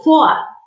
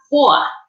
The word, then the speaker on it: vor: FOA. La V suena como una F y como tengo una vocal antes de R en terminación de palabra, se hace como una A, o sea, FOA.